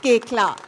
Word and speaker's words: Koechlin: So please help me in welcoming Kalki Koechlin. Kalki Koechlin. It's pronounced Koechlin. Kalki Koechlin.